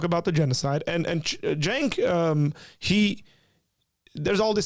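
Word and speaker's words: Cenk: Jenk. Jenk. Jenk. It's a J. It's a jen. It's a J. Jenk means war.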